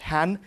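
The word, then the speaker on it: hän: you have a neutral pronoun called Han which is very similar in its pronunciation to hen and the fact that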